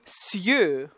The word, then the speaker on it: cieux: C-I, as we've had before, becomes, before the I becomes that S sound, the unvoiced S. And the I glides here. And now we have the E-U spelling again with the X, which is silent. So, we're going to get the U, the closed one.